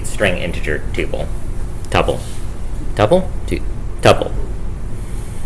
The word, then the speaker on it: tuple: Tuple. Rhymes with couple.